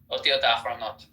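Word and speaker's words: ידיעות אחרונות: Yad'ot Yahronot. Otiot Achronot. It's cha.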